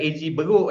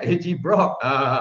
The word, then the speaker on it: AGBroc: Bukan AG Beruk, eh, AG Brock. Ya, kena pronounce betul-betul tu. Brock tu pendeknya untuk brokoli, ya, sayur brokoli.